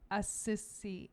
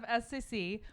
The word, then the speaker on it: Assisi: hmm cute who why was saint francis of assisi assisi is how you say it you're asking me saint francis of scc why was he considered the first environmentalist ah